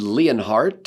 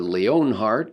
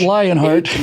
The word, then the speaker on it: Leonhardt: York Times a David leonhardt or Leon Hart I'm not sure how you pronounce that it's not Lionheart not it's not lion but it's a Leo it's like the French word he has this column